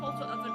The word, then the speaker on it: Polterofen: Is it pronounced Polter? No, it's pronounced Polterofen because it's German, even though it's based on Tsukumagami, which are Japanese.